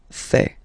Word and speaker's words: fais: Je fais. Remember, final S not pronounced.